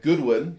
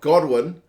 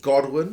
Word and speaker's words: Godwin: who Owen and Kamali insists on pronouncing his name Goodwin despite the fact that it's God I know pronunciations can